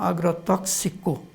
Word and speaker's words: agrotóxico: aprovamos e fica então agrotóxico e os x é pronunciado como quis o agrotóxico portanto os 100 é